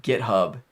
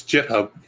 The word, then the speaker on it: GitHub: but i feel like github no it's jit hub yeah exactly right so